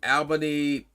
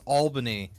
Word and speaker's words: Albany: Originally it was about the whole Albany Park fiasco, but you will not call it Albany. Get out of here with that. What's wrong with Albany? It's Albany. People that aren't from here called Albany.